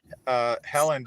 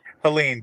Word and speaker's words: Helene: It was stronger and had more damage, I think, than Helen did, or I can never Helene, pronounce it. Helene, thank you.